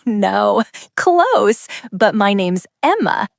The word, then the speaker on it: Emma: But my name's Emma, not Emmy. Hello. Are you the Emmy Watson family? Almost. It's Emma, not Emmy.